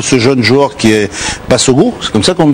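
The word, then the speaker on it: Bassogog: Voilà, je trouve qu'on découvre ce jeune joueur qui est Bassogo. C'est comme ça qu'on le prononce.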